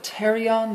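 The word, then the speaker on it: pterion: area here is called Terry on there there's a silent p at the beginning of that it's the joining of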